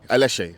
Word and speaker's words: Aléshé: Just pronounced correctly. Aléshé.